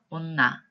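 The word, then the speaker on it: 女: 따라서 뇨 혹은 발음을 길게 해서 뇨 이렇게 발음이 되는 경우가 있고요. 훈독을 할 때는 온나 혹은 경우에 따라서 매 이렇게 읽혀지는 한자가 바로 이 여자입니다.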